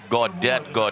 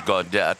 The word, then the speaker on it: Gaudet: By the way, I may have inadvertently called Dylan Gaudet. It is Gaudet, so my apology.